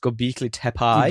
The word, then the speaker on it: Göbekli Tepe: Göbekli Tepe. Göbekli That's Tepe. the one. Yeah, that's the one. Idiots try to say words. Yeah. I think you'll find it's pronounced Göbekli Tepe.